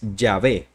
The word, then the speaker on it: Yahvé: Los estudiosos en esta materia creen que la vocalización correcta es Yahvé y que la palabra